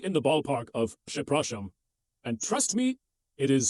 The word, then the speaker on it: przepraszam: The pronunciation is przepraszam.